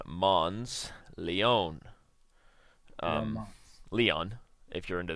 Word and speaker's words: Leon: his game against Grandmaster Leone Mons Leone um Leon if you're into that if you're into correct pronunciations it's Leon Yan Solomon still playing